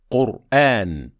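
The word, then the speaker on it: القرآن: Qur'an, the letter before Ra has Dhamma, so it is heavy.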